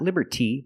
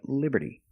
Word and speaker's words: liberty: And we see that T in liberty is between vowels, so it's pronounced like a fast D. Liberty, liberty. Not liberty, but liberty.